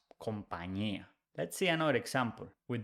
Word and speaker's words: compañía: top, the ñ, and the ñ is pronounced ñ. So company becomes compañía.